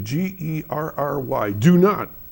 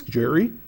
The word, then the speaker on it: Gerry: see the name actually, Gerry, do not go there and say, oh, this is a nice place, Gerry. It's Gerry.